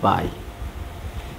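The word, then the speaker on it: phi: দেখো এরকম পি এস আই সাই পি এর উচ্চারণটা হয় না আর এ ভদ্রলোকের হলো পাই পি এইচ আই পাই আচ্ছা যাক এগুলা পঠানে আলোচনা আছে অনার্স সেকেন্ড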